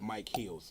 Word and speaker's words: Micheals: So Rip Mike Heals. And that's actually, my name is actually how you spell it.